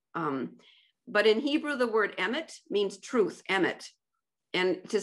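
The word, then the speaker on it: אמת: But in Hebrew, the word emet means truth, emet. And to spell that in English is E-M-E-T.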